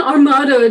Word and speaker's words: Armado: I did converse with Quodam Day, with a companion of the king's who is a thing, nominated or called Don Armado de Armado.